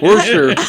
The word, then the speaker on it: Worcester: Worcester. It's all in the pronunciation, It's Heidi.